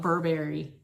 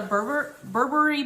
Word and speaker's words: Burberry: I want to call it Burberry, but I think it's pronounced Burberry.